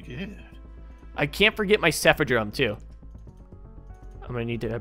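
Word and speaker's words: Cephadrome: it's actually pretty good i can't forget my cepha drum too i'm gonna need to bring him with me it's pronounced cephadrom he dropped something a crystal urchin blooper come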